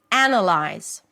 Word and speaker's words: analyze: So the difference again is in the primary stress right here. The primary stress falls on analyze. The first syllable analyze. So the first syllable is actually the as in cat and then you have awah. Anna. Unlike the first word anwah and then the as in cat. Here they switch places. Anna.